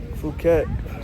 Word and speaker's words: Phuket: Fuket.